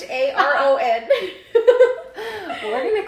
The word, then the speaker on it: Charon: I'm going to call that one Sharon. Sharon? Even though it's Charon. We're going to call that one Sharon. Sorry. Sharon, Nyx, Hydra, Kerberos?